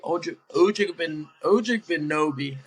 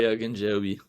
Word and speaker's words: Ogunjobi: It was him and Larry Ojigbinobi. I always pronounce that wrong. Larry Ogunjobi.